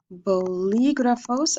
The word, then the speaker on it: bolígrafos: Unos bolígrafos. Accent on the I.